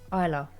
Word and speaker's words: Isla: Also, it's pronounced Isla. The S is silence.